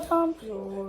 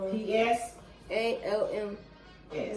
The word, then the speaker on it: Psalms: Psalms. It's The Psalms. P is silent and then it's spelled exactly how it sounds.